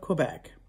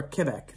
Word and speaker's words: Quebec: french the battle of quebec or quebec they call it quebec affair that's how you say it in french quebec quebec was the